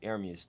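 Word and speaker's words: Ermias: It's Aramis, though. That's how you say it.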